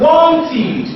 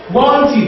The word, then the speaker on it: wanted: so because of the this word is now pronounced wanted not wanted wanted that's the ID there wanted want wanted now